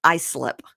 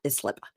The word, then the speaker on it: Islip: I think I sent it to you that it's pronounced Islip, not Islip. Okay.